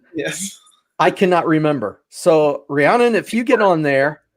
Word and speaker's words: Rhiannon: Looks like we have an excellent question from Rhiannon. Yes, I said it right this time. I finally got it. Every time Claude always tells us, it's like the famous singer.